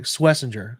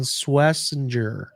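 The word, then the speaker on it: Schwesinger: So Schweisinger grew up um Schweisinger by the way to pronounce that. Swissinger got the pronunciation guide in place. Carson Swessinger for everybody out there.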